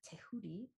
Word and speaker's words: Tehuti: This syncretism is between the Egyptian Kemetic god Thoth, or Tehuti is how you would say it in, I don't know how to say the language, but not English.